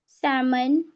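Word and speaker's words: salmon: Pock could should would you के मतलब ए और ओ एंड यू ये वोवेल्स आने के बाद हमारे जो जो एल होता है वह साइलेंट हो जाता है।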